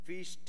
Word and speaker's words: Fichte: Fichte, have tried to Fichte, it is pronounced in German maybe, have tried to imply that Vedanta, Advaita, non-dualism, doesn't give importance to ethical philosophy.